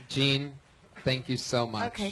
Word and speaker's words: Jeanne: It's spelled like Jeanne, Jeanne, L. Whitney, all one word. Gene right. with a silent N and E after it.